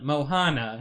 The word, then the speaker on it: Moana: Moana. No, now Moana. I'm saying Moana. Is it Moana? Moana. Moana. Okay. You're still saying it wrong. Should we ask Google how to say it? It's like Mohana.